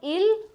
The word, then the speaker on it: ils: This pronunciation is not ils and els, it is il and el.